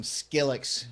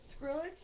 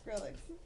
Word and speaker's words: Skrillex: Yeah, I'm going to look up some Skillex songs and tell him to play them. That was the awesome pronunciation of Is that what it is?